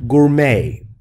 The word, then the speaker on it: gourmet: gourmet meals 24 hours gourmet D is silent no tea gourmet meals means high-quality